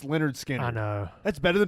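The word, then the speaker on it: Lynyrd Skynyrd: to name Leonard skinnard pronounced Leonard skinnard I know that's better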